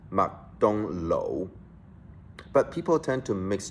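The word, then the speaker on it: 麥當勞: The fast food chain restaurant we all know, McDonald's, in Hong Kong is pronounced Mak Dong Lo. But people tend to mix Chinese and English together and pronounce it as Mark don't know.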